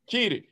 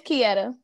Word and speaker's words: Kieta: You still said it wrong. You go ahead, correct me. I'm human. You said, it's Kia. You said that John three different times since I've been Kia. It's Kieta.